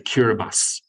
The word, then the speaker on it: Kiribati: It's spelled Kiribati, but you say Kiribati.